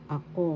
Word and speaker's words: ako: panghalip pronoun in English ako means i or me first syllable second syllable ako syllable has the accent that means i or